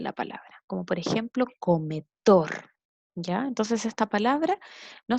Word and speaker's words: comedor: Como por ejemplo en la palabra comedor, la sílaba que se pronuncia con más fuerza es dor.